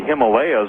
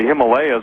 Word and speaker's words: Himalayas: you're dealing with the whole area around the Himalayas, obviously Kashmir is in the vicinity. The very word Nepal, it comes from to fall. The locals call the Himalayas, or Himalayas, some people pronounce it, the mountain of the gods.